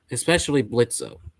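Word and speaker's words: Blitzø: Especially Blitzo. Yeah. I don't care what his actual name is. I don't care if the O is silent.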